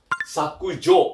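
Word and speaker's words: 削除: Artinya sama, tapi kalau N2 bacanya adalah sakujo.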